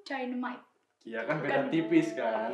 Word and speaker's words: Dynamite: Dinamit. Dinamit. Iya bener sih, tapi bacanya tuh Dynamite.